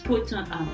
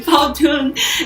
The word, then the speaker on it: Powtoon: I use Puton and Powtoon. See, I don't even say it correctly. Powtoon and infograph or mind map and storybirds.